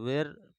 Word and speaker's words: were: क्या होता है इसको वर यूज किया जाता है डब्लू ई आर ई ऐसे होता है तो वेर समांतर लोग पढ़ते हैं लेकिन उसको शुद्ध उच्चारण में पढ़ा जाता है वर तो डॉक्स वर बार्किंग